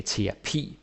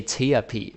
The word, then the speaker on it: terapi: What you'll notice is that I say terapi. I don't say therapy, like therapy.